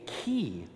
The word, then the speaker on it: chi: This other symbol right here is an X, and that is called in Greek a chi.